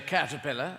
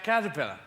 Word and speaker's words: caterpillar: a different way like you say cat pillar and we say caterpillar and uh related to